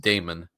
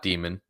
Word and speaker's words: Damon: It's pronounced Damon, as in like similar to Damon Wilson, who his first name is often people pronounce it Damien, but it's Damon, not Demon for the Clowney.